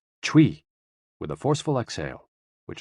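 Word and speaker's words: chui: exhale which is associated with the lungs c-h-u-i pronounced like tui with a forceful exhale which is also associated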